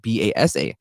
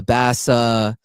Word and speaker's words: Basa: school, elementary school specifically, people would always pronounce my name as Basa, Basa. Mhm. Some people would even pronounce it correctly, like Basa. And so, growing up, I'll get to it later, but that's why I added the W's to help pronounce it.